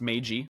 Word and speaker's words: MAYG: my Angry Yakuza girlfriend that's pronounced mag right M we've got mag on the show these